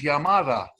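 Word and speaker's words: llamada: of uh of maldonado the word calling is yamada but they spell the yamada with the double l when you when you took spanish in school you learned that that that y sound is spelt with a double l well we don't do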